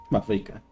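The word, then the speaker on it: Mavuika: call me Mawika. It's what all my friends call me, and I like it that way. Mawika.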